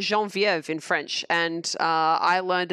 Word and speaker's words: Genevieve: EV not in French it's not Ash melon Genevieve is pronounced that way in English but it's pronounced Jean vo of in French and I learned it the name